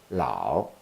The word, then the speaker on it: Lao: the name of the author louder louder is pronounced as loud Lao is in acetone and is also in a